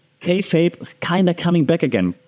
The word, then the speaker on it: kayfabe: There's this term called kayfabe, right? You spell it Kayfabe, kayfabe.